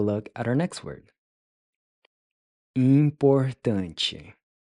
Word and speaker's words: importante: Importante. Importante. Importante. Importante, important. So the last syllable is pronounced chi.